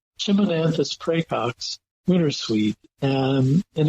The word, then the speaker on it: Chimonanthus: I won't try well it chiman like Chim chimy Chim uh in this case we're talking about a shrub not a chimney chimonanthus precox winter suite and